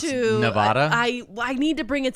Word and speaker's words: Nevada: Kind of the same way I pronounce Nevada.